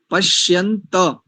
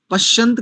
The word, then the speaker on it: पश्यन्त: उद्वयन, उद्वयन, तम सस्परि स्वः पश्यन्त, ता पूरा है, पश्यन्त, पश्यंत कह देते हैं कई लोग, पश्यंत उत्तरम, पश्यंत नहीं करेंगे, पश्यंत उत्तरम, दो तकार है, उत्तरम।